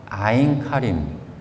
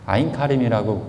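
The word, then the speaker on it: Ein Karem: 근데 전승에 의하면 거기가 아인카림, 개신교 말로 엥카림, 또 어떤 아인카렘, 이게 알파벳을 직역을 하냐, 뭐 라틴어처럼 읽냐, 아니면 뭐 그냥 원어로 읽냐, 영어처럼 읽냐에 따라서 발음은 좀 달라지지만 아인카림이라고 보통 얘기합니다.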